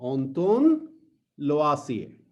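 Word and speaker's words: Antoine Lavoisier: हाँ, एक चीज मैं आपको और बता दूं, फ्रेंच साइंटिस्ट थे जिनका नाम था, हाँ पहले स्पेलिंग लिख लीजिए फिर प्रोनाउंस करके बताता हूं। हाँ, ऑन्तोन लवासिए।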